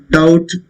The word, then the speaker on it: doubt: Doubt again, just like that. Doubt. It's not doubt. B is silent again.